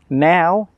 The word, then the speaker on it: know: Now, N-O-W, is talking about the present time.